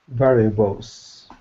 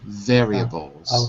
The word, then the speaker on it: variables: specification specification good variables variables it's more like VAR variables okay variables varia I know it's spelled like VAR but it's actually pronounced quickly pronounced variables okay and